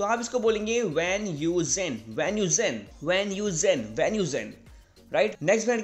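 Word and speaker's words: Van Heusen: तो इसका actual pronunciation होता है वैन यूजेन, राइट, वैन यूजेन। तो इसमें भी एच जो है बिल्कुल साइलेंट है, वो उनकी कंट्री के हिसाब से वो उसको प्रोनाउंस नहीं करते हैं, तो आप बोलेंगे वैन यूजेन, राइट।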